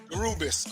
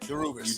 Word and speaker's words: DeRubeis: If you want to say it wrong, you got to say first you get the diamonds, then you get the rubies.